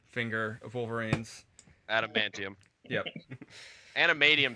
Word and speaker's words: Adamantium: And I want to put a fucking ring on that animanium finger of Wolverine's. Adamantium.